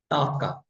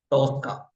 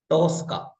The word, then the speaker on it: Tosca: And the pronunciation for this Tska is somebody called it as TKA. Okay. Or somebody they will call it in different way. The pronunciation is toka. Tosska.